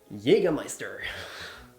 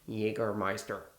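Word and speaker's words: Jägermeister: So, while kids get candy, the adults get Jäger Meister. Why do I pronounce German words with an English accent? It's called Meister and not Jaggermeister.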